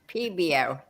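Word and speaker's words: Pébéo: You pronounce the E. It's PBO.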